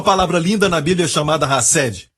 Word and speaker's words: hesed: linda na Bíblia chamada rassd diga rassd h a s s e d no nosso português assim se escreve rassd certo rced é uma palavra que